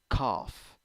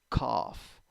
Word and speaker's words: cough: o o o and g and h turns into f in this word cough cough cough nice seven four